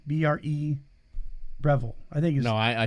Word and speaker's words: Breville: picture of our brand new how did you pronounce it breville revel breville no it's it's a b b-r-e breville i think no i said revelation oh you